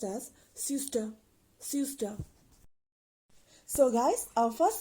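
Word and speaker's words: søster: For sister, in Danish, it can be pronounced as syster, syster.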